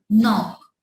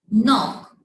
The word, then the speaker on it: know: So when K comes before N, so it will be silent.